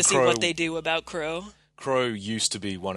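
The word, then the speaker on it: Qrow: And then you have Kuro, which is, it's Crow, but it's spelled with a Q at the start because anime.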